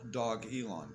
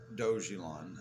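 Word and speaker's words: Dogelon: a three dog race with doge and now dog elon coin uh not dojilan they said that that would be arrogant so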